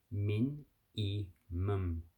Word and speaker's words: minimum: And in today's video, we're going to learn how to pronounce min, e, mum. Min, e, mum. So mim, mim. So the lips closed.